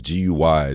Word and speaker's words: Gui: green um and that's gu y so not not how I wrote it GE e it's gu y i oh guui yeah okay guy with an i okay so spell it